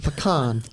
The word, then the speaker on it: pecan: And she said, "Honey, you pee in a can. It's a pecan."